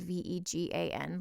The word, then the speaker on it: Vega: and it's vague so i should technically call it vega because that's how i've heard it heard it said but it's spelled v-e-g-a-n like vegan but it's vega so you could say